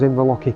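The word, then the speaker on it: Inverlochy: We're just looking at towards Inverlochie Castle, that's how you say it, and Ben Nevis behind.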